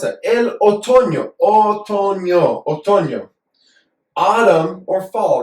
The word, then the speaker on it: otoño: I mispronounced that. El otoño.